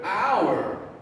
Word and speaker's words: hour: do not say the first sound we don't say power okay it's almost like we're just saying the word hour this is our classroom